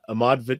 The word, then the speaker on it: Ahmard: So it's simply Ahmard. And I'll spell that out for those who are listening. It's, if you're on IG or Twitter, it's at @AHMARD. So there's a silent D there.